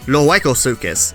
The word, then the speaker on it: Lohuecosuchus: are covering a crocodilian lujuko sukis although I prefer the pronunciation loyko sukis as I feel it sounds a bit more Spanish to me and it rolls off the tongue better luego sukis it sounds